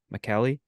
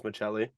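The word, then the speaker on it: Maccelli: pronounced that correct m-a-c-c-e-l-l-i how would you say that McKelly I I think I think Double C for Italians Michelli okay hopefully we'll see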